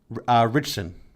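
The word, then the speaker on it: Ritchson: right how do you say his last name richson okay so let me first start off by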